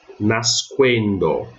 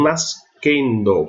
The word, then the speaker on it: nascendo: SC, diante de E ou I, eu leio SQU, SCU. Né? Então, nesse exemplo aqui, nasquendo, certo? Nasquendo, não nascendo, porque o U, quando eu tenho o U para ser pronunciado no latim, em todas as pronúncias, esse U será pronunciado, ele não será omitido, tá?